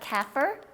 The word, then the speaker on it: Kaffir: It's Kaffir, and it's pronounced according to Adam. He looked it up. Kaffir. Kaffir lime leaves, and it smells so great.